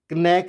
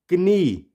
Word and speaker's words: knee: वैसे ही KNEE कनी नहीं, क्या होगा? नी। वाई? क्योंकि हमने देखा कि जब भी स्टार्टिंग में के के बाद एन होगा तो के क्या हो जाएगा? साइलेंट हो जाएगा।